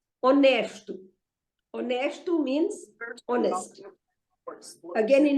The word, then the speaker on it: honesto: Honesto. Honesto means honest. Again, in English also, it has got no sound. Sorry? Okay. So, honesto, again, has got no sound. It is written with a H-O-N-E-S-T-O, honesto, but it has no sound at all,